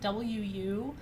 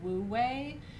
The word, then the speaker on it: wu wei: Yeah, Wu Wei is spelled W-U--Wei. It's a Chinese concept. So it's looks like Wu Wei, but it's pronounced Wu Wei.